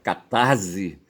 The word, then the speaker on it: catarse: Para se pronunciar catarse, tá certo? Quando ele está intervocálico, tá certo? Ele vindo depois de uma consoante, o re, tá certo? Catarse, tá certo? Ele será pronunciado como C mesmo, certo?